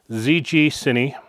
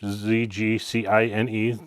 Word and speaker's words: ZGCINE: And a company reached out called ZGCINE. I believe that's how it's pronounced. ZGCINE, ZGCINE, and ZGCINE, and said,